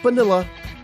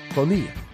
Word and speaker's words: Bonilla: Bonilla he helped Tony not vanilla Bobby Bonilla exactly I said Padilla rhymes with Bonilla my client now sat